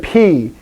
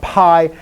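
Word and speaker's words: πι: old math letter yeah good p because it's spelled p yoda so it's not pi i don't want to fight with math people say pi that's great but this is p in greek okay second letter ro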